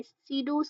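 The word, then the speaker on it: pseudo: होती है सीडो sanctum इसका जो पी होता है वो साइलेंट होता है उसको हम जो प्रोनाउंस करते हैं वो होता है सीडो लेक्ट्स ठीक है इसके अंदर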